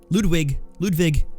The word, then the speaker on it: Ludwig: And man, Ludwig, that's the proper way to say it.